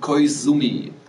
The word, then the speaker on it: Koizumi: Sumi. Z wird als S ausgesprochen. Koizumi.